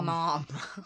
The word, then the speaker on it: ma'am: the north but then the way we pronounce ma'am yes ma'am no apostrophe a.m you guys pronounce it like a mom yes mom yes mom